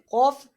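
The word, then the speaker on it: ق: Cough is a huruf mustalia, so that's why cough is pronounced always pronounced in thicker voice. So the pronunciation of cough is pronounced from the root of tongue.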